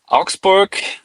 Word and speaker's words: Augsburg: Auxburg or like you can say Auxburg. I mean, Germans would pronounce it a little different, but that's just what it is. Whatever.